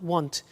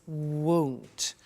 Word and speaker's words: won't: the money is won't be careful with the pronunciation it's not want it's won't so the example is